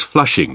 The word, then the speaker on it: Flushing: he visits us but the english name of missing an is flushing which rhymes with blushing so the dream is